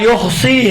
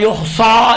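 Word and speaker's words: يحصي: مثلا لا یحصی ہے، لا یحصا نہیں پڑھیں آپ، کلمہ کو صحیح ادا کریں.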